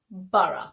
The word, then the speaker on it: borough: So a word that rhymes with thorough and follows the same spelling is borough.